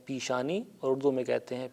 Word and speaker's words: پیشانی: کا لفظ رائج ہے، البتہ تلفظ تھوڑا سا مختلف ہو جاتا ہے۔ ہم فارسی میں کہتے ہیں پیشانی اور اردو میں کہتے ہیں پیشانی۔ یہ بھی کہتا چلوں